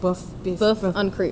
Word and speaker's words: boeuf en croûte: I'm like boeuf en croûte. Boeuf en croûte. In French, yeah.